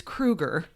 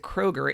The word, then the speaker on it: Krueger: opportunities to interview Chad his last name is Krueger we used to always pronounce it Kroger and he never really